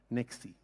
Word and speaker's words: NextC: And this year named NextC. C stands for cloud or next? C stands for comprehensive. Comprehensive. Yeah. And incidentally, it rhymes with sexy.